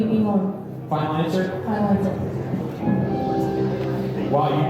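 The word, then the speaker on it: 日本: call it Japan, how do Japanese citizens actually pronounce the name of their country? Is it Yaponi, Seishun, Sukai, or Nihon? B, Nihon. Final answer? Final answer. Wow, you knew that right away. It is Nihon for $2,000.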